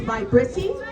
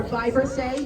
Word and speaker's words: vibrissae: The technical term for them is vibrissae or vibrissae, you might heard it pronounced. Either pronunciation are accepted.